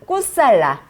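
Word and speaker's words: कुशल: 자, 꾸살라. 이거면 그냥 적힌 대로 그냥 읽으시면 돼요. 아시겠죠? 이거 막 미국식으로 어떻게 발음할까 고민 안 하셔도 돼요.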